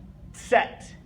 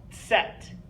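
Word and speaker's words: Zett: Y last but not least the letter Z set set okay again here just like in the letter c we see that TS okay set you have that little T sound there at the beginning set okay so there's our alphabet so I'll go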